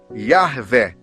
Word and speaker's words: Yahvé: A pronúncia mais próxima do nome do eterno Deus seria Yahvé, e o nome do Filho Jesus, e do Espírito Santo, o próprio Pai.